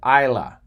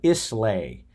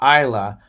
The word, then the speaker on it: Islay: a man in Scotland on the Isle of ila it's pronounced ila spelled is la whaai when I first read it I thought it was the Isle of Islay but it's the is pronounced the Isle of ila off the coast of Scotland and I got